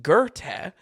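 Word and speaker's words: Goethe: 1808 classic written by gerte um sorry of I'm mispronouncing that the internet tells me g e uh I'm sorry the internet tells me that g o e t h e is pronounced gerte so uh [ __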